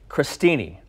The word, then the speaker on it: crostini: how to make pumpkin crostini did I say it right yes do you know why it's spelled with an O but it's pronounced like crust no okay but you